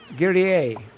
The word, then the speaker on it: Guerrier: My pseudo is a French word. It's quite hard to pronounce right for English people. Guerrier? Guerrier.